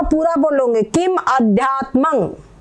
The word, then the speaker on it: अध्यात्मं: माँ पूरा बोलोगे किम अध्यात्मं, यहाँ पर ये जो बिंदी है इसका अनुस्वार उच्चारण होगा।